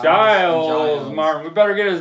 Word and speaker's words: Giles: That with remix by Gios Martin Giles Giles Martin.